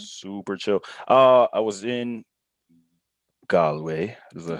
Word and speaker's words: Galway: I was in Galway.